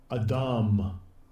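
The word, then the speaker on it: אדם: So, let's see how he pronounces it. Strong's H120. Adam.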